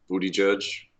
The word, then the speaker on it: Buttigieg: Booty Judge. Buttigieg. Is even Mayor Pete sure how to pronounce his own last name?